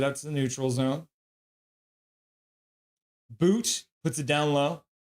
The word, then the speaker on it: Boot: Boot puts it down low. His name is spelled but T. It's boot, not butt, apparently, but I was going to say butt.